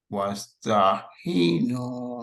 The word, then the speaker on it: واستعينوا: Yeah, so it's an ayn. It's not a ha.